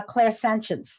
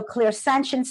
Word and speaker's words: clairsentience: sign from heaven is clairsentience I'm gonna say and these are French words a CLA IR is a French word that means clear so clear sentience some people pronounce it or clear sentience